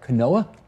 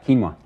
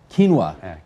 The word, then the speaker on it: quinoa: don't know how to say this is that kanoa uh quinoa quinoa you can tell how often i am shopping